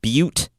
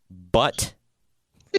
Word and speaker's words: Butte: learned that is not that the county is pronounced Butte and not but the county so that's good to know we should